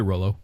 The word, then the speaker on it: Rollo: I'd say Rollo. Rollo, yeah. Not YOLO. Rollo. Like the Rollos, like the candy. I was just thinking of the candy. I was like, but that's not how it's spelled. It's ROLO for Rollo. Yeah. And this is ROLLO.